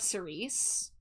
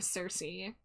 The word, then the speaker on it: Cersei: She's specifically the daughter of Sice or Cersei. Cersei. I got the ghost the ghost song took over and I pronounced it the ghost song way. But uh it's it's she's the daughter of Cersei.